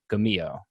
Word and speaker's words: Gummio: Gummio.